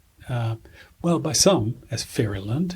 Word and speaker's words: Newfoundland: However, how the Portuguese word got into English and then pronounced, by some as Fairyland. If you're from Fairyland, you don't say Fairyland, you say Furland.